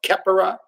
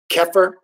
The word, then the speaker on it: Khepri: We know Khepri, sometimes pronounced Khepera, Kepher, right?